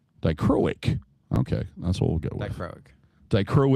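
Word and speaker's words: dichroic: I go I'm going to screw up the pronunciation uh and I purpos I purposely saved this dro they're doricronic dicroic dicroic okay that's what we'll get dicroic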